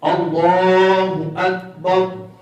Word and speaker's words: اللہ اکبر: تو اس کا درست جو ہے وہ تلفظ ہے اللہ اکبر. یہ اب میں دہراتا ہوں، آپ نے میرے ساتھ دہرانا ہے. اللہ اکبر، پر کرنا ہے، لفظ اللہ اسم جلال کو پر پڑھنا ہے.